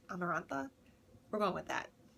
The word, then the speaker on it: Amarantha: wanted to meet amber amarantha amarantha america it was like samantha but like amarantha how do you pronounce how is that pronounced amarantha we're going with that